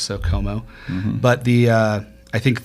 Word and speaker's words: Chomout: So, s h c h o m o u t but um it's pronounced with a lot of silent letters. So, Como, but the uh I think the that's the best spot to go find that.